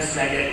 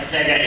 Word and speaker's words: Sega: So the Se part of Sega is from service, and the Ga part from games.